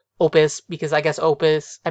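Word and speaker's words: op.: yes it is pronounced opus because i guess opus i mean i guess op is just the shortening of opus like as in an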